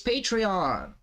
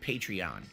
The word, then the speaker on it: Patreon: I guess they actually pronounce it Patreon, even though it makes no sense because Patreon is supposed to be a take on patron of the arts.